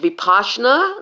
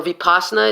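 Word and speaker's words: Vipassana: I cannot teach you Bipasha and that's or veep asana it's it's it's it's pronounced either/or I cannot teach it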